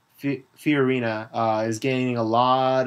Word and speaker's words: Fiorina: there of course Carly fona oh sorry I mispronounced that Carly fiorina uh is gaining a